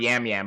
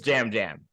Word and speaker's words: Yam Yam: Abe was already confused why it's not yam yam but I promise you it it is Jam jam it is pronounced jam it is pronounced Jam Jam uh the most likable